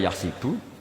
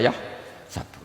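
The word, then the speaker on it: يحسب: Karena dalam qiraat sab'a ada yang baca yahsibu, qiraat kita baca yahsabu. Tapi guru-guru kita kalau ngajar fikih itu bacanya yahsibu.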